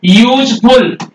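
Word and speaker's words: useful: a union य देखो यूजफुल यूजफुल animal ध्यान देना य पर यूजफुल एनिमल अब आप य क्या लगाएंगे यू आ रहा है आप यू अक्षर नहीं देखेंगे साउंड देखेंगे साउंड क्या लगाएंगे अ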